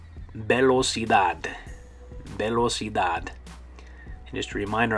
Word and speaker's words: velocidad: Okay, and like with this one, in English it ends with TY, velocity, velocity, and with the TY in Spanish it's going to end with the DAD, velocidad, velocidad.